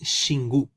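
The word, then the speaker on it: Xingu: del chingo en brasil la palabra x en nuestro abecedario en el abecedario en portugués se llama la letra chis por lo cual hermanos aquí la palabra es xingú se pronunciaría siembra en brásil hermanos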